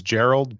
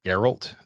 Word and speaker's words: Geralt: I know that your name is Gerald, but I believe it's pronounced Geralt the Giraffe.